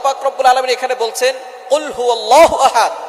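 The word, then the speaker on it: قُلْ هُوَ: আল্লাহ পাক রাব্বুল আলামীন এখানে বলছেন কুলহু আল্লাহু আহাদ। এখানে কফ দিয়ে পড়ছেন কিন্তু অনেকেই ভুল করে উচ্চারণ সঠিক না হওয়ার কারণে তারা পরে কাফ দিয়ে। কুলহু আল্লাহ।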